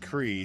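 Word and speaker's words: Kriegh: Last name is pronounced CRE.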